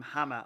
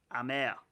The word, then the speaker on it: Hamer: Actually, my Brazilian colleague, I was pronouncing him Hammer at the weekend. My Brazilian colleague has told me it's Amer. Hamer. There you go. Don't pronounce the H.